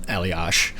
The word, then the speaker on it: Elias: Germany, and that's Florian Eliash. I'm pronouncing it Eliash because that's the way I'm supposed to pronounce Patrick's. Yep. And what is the other pronunciation? Elias.